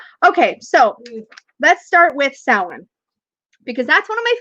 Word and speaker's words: Samhain: Yes, because it's spelled Samhain. It's pronounced Samhain, or something along those lines. There are slightly different pronunciations depending on where you are.